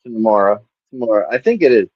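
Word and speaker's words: Temuera: Now, if you look at the credits, I think it is pronounced tomorrow.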